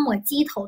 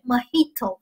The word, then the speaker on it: Mojito: 那莫它不读成莫吉托，同学，它不是莫吉头，别闹笑了，它读成是 Mojito 啊，Mojito。